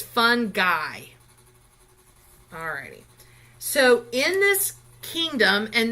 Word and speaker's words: fungi: is actually called fungi and that that G it's fun guy so in this kingdom